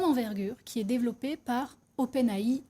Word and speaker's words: OpenAI: qui est développé par openai ou open hey high pour ceux qui ont envie de le prononcer à l'anglaise chat GPT c'est quoi